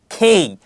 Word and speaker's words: K: লক্ষ্য করি বলা হয়েছে খেই তাহলে কে এর সঠিক উচ্চারণ কি হবে কে এর সঠিক উচ্চারণ হবে খেই পরবর্তীতে এলর উচ্চারণ দেওয়া